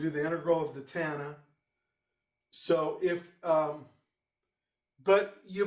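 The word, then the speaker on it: tanh: with gosh and then tana rhymes with montana not miley cyrus but hannah montana cough rhymes with cloth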